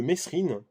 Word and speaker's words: Mesrine: Donc c'est un coffret de Mesrine, ou de Mérine, hein, pour ceux qui préfèrent prononcer Mérine.